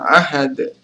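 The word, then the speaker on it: أَحَدٌ: dan yang terakhir adalah ahadun dibaca Ahad karena dia adalah huruf ee masuk dalam hukum bacaan Qalqalah kubra karena huruf Qalqalah Dal ini diwakafkan cara membacanya adalah dipantulkan lebih tebal oke teman-teman itu dia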